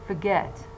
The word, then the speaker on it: forget: The first syllable is weak, while the second syllable, although the vowel that it contains is not long, it's not diphthong, but it is stronger than schwa.